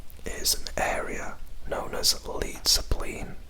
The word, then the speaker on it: Leidseplein: Now, here is an area known as Leidseplein, or Leidseplein, to pronounce it in the Dutch way, I believe.